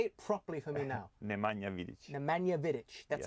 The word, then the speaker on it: Nemanja: you on the tv it was always nemanja namanya even now with nemanja matic nemanja is right nemanja was wrong the manjo was wrong okay yeah just say it properly for me now nemanja vidic that's how it